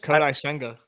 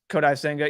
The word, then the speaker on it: Kodai Senga: I think even someone needs to tell me how to pronounce his name. The Japanese guy to the Mets. I think it's just Kodai Senga. Kodai Senga, yeah.